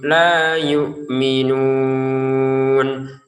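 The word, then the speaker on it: لَا يُؤْمِنُونَ: Am lam tunzirhum la yu'minun. La 2 harokat panjangnya ya. Dan itu panjangnya harus ya. Karena kalau nanti dibaca pendek, la yu'minun secara makna nanti akan berubah ya.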